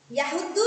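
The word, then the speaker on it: يَحُضُّ: Kemudian yahuddu. Yahuddu di situ pada huruf dot ada tasjid, maka harus ditekan atau dibaca double.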